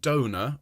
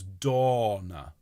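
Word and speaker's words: Dona: Kind of a cross between the two, Dave. If we could have a tall O sound, okay, like orange, but then extend it so it's Donna.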